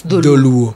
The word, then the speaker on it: Dholuo: It's spelled D-H-O. So it's Dholuo.